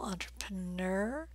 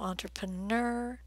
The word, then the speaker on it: entrepreneur: fit better under purple entrepreneur I've heard both versions so entrepreneur with a stressed purple sound or entrepreneur with a stress blue sound but do stress the last vowel sound this word is from